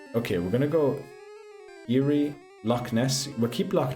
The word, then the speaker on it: Erie: Loch Ness Eerie Lake Erie, which it should be pronounced cuz that's not how you write Eerie. Illinois River is also close, right? Okay, we're going to go Erie.